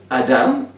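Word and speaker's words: אדם: Le mot Adam en hébreu, ça prononce Adam, et ça veut dire humain.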